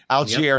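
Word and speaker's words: Allgeier: So it's not the way it's spelled. It almost looks wrong. It looks like it should be more French, more Algier than Algier, but it is Algier.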